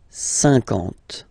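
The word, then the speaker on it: cinquante: Remember that you get this QU, but then you don't pronounce the U. And then you get the nasal, un, and then en. 50, 50.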